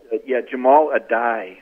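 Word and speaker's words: Jahmile Addae: Yeah, Jamal Adai is the pronunciation.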